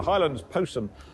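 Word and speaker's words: Jyllands-Posten: highlands post which is I think it's pronounced the highlands posum which is uh one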